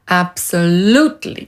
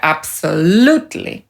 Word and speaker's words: absolutely: /ˌæbsəˈluːtli/ tak to się akcentuje. /ˌæbsəˈluːtli/.